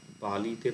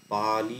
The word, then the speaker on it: পালি: শব্দটা যদি নেয়া হয় পালিতে পা হচ্ছে দীর্ঘস্বর নি হচ্ছে হ্রস্ব স্বর এটা পা আলি এরকম উচ্চারণ পালি না মানে পা তে একটু টান পড়লো তারপর লিটার হ্রস্ব হলো এই হচ্ছে আটটা স্বরবর্ণ